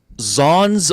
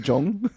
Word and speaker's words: Zhong: Zon's Barbecue at First Markham Place. Again, I like to grab these to use as bookmarks. Is it even pronounced like that, Will? Wouldn't that be like Jong?